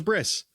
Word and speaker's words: bris: You might go, what is a bris? Well, a bris or a bris is not a word that they would have used back then. It's more of an Ashkenazi European pronunciation or shorthand for Brit Milah.